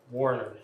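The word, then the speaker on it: Woerner: Thank you so much for join Could you pronounce that for us? Uh Warner. Warner.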